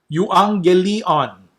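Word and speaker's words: εὐαγγέλιον: Euangelion. Okay, so remember the e and the u is you. Then there's the double g, so it's ng. Euang. Okay, euangelion or euangelion.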